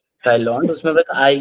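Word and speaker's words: Thaïlande: क्योंकि फ्रेंच में एआई का pronunciation is what A right. उसको थाई बोलने के लिए लोग उसके ऊपर वो लगाते हैं 2 डॉट.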